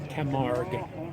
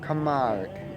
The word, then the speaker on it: Camargue: Pronounce the name of the car again, please. Camargue. Camargue.